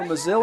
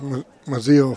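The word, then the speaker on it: Mazil: No relation because it is spelled differently, though it's pronounced almost identically.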